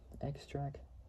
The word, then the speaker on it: Xtra: by performed by Xtra which is sped without the the X but it's sped e k s t r a k and then FAL which was Fel Williams say x extra Fel sway Spank Rock